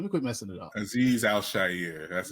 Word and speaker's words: Azeez Al-Shaair: his name let me quit messing it up aiz Al Shier that's Aziz Al Sher Aziz you keep saying you said before that